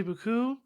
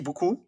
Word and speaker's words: beaucoup: That French has two sounds that sound like O. So one is U and one is O. If you say beaucoup, you're not saying thank you a lot.